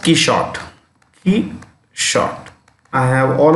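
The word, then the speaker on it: Quichotte: know uh q q it's pronounced keyshot he shot i have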